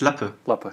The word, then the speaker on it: Lappe: how would you find that how would you pronounce it it's just lapper so i was 99 there cool congrats cool